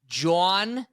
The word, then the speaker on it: Jhoan: The thing I love the most, Dad, is, first of all, everybody, including me, pronounces it a different way. Right. But now, everybody in Philly calls him Jhoan. Are you familiar with Jawn?